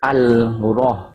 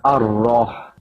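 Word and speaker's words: ar-Raḥmān: You don't recite al-rah. There's no al-rah, but ar-rah. It's called idgham syamsiyah, where you jump over the lam. The lam is not pronounced. But because of the lam, the hamzah wasal will have a fathah on top, not the kasra or the dhamma. It is not irrah, it is not urrah, but arrah. Arrah because of there's a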